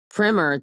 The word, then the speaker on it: primer: informative piece of writing I pronounced primer the textbook to rhyme with trimmer there you go okay